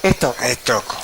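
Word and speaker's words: Stocco: Bueno, decirle a la audiencia que nos pueden seguir en nuestras redes, Cineclub Estoco, estamos como en Instagram, también pueden seguir a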